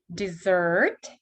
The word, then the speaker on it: dessert: Dessert, but desert. И у нас ER не под ударением стало как R.